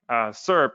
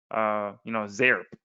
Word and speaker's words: Zairp: And I'm just gonna, uh, say it like Zerp instead of, Zairp, which, I guess I should put I is silent in here or something like that, or A is silent.